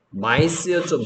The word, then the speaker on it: mice: 마이스였죠, 마이스. I가 I, C가 S, 마이스.